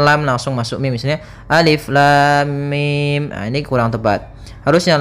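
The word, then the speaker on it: الم: Maka cara yang benar membacanya adalah seperti ini: alif lam mim. Panjangkan dulu lamnya.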